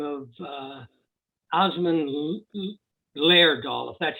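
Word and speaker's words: Åsmund: um a man by the name of uh osmond that's how his front name first name is uh pronounced he's was a norwegian doll maker and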